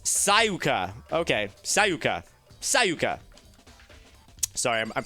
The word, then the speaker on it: Sayaka: Sayaka is pronounced Sayuka.